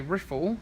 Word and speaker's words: riffle: person and a writer, I would say riffle because it's spelled R-I-F-F-L-E and rifle is spelled R-I-F-L-E.